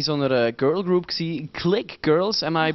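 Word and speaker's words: Clique Girlz: Sie sind ja früher in so einer girl group gewesen, Click Girls. Am I pronouncing it right?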